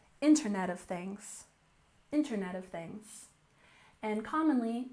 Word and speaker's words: Internet of Things: and next we have Internet of Things We have stress on the first syllable Internet of Things internet of things and